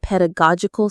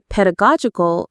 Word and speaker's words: pedagogical: Now pedagogical is the adjective form of pedagogy which is the theory and practice of teaching. Let's practice the pronunciation. Pedagogical. The main stress is on the go syllable.